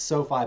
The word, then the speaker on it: SoFi: And you used to work with, is it pronounced SoFi? It's SoFi, but I always joked that if you said finance, it should be SoFa, but that's not that joke.